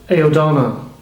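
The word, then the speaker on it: Aosdána: the way president Hillary did Charlie also founded ayodona is that how he's pronouncing yes that was uh and it gave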